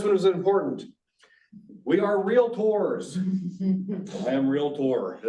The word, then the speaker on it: Realtor: you're saying it right it is real Tor um not realator or real there's all kinds of different ways so anyway I thought